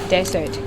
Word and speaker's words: desert: The word for today is นุ่มหวานบ้านนุ้ยนะแต่ว่าเป็นของหวานนุ่มหวานในแบบนี้เราจะเรียกว่าบ้านนุ้ยนะ dessert เขียนอย่างสักทีดูปากคุณอิดออกเสียงให้เมื่อนะคะ dessert แต่ถ้าเป็นทะเลทรายเขียนต่างกันนะคะคำนั้นออกเสียงว่า desert so right now I'm at a